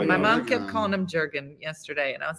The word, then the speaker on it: Jurgen: I was like it's Jurgen jur jur nobody say how do you say Jurgen that's what I was saying so it's because you don't pronounce the G as a hard so it's y so I've been calling